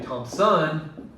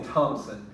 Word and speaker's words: Thompson: And my last name is Thompson. I don't say Thompson, I say Thompson.